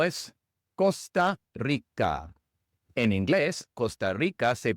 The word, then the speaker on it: Costa Rica: En la primera palabra costa, la o es una o larga inglesa. Es un ditongo. Es como si fuera o u. Ou. Costa. Costa.